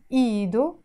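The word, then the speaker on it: إيدو: feminine Edo he's had this hat is silent as we said ìdo his hand and need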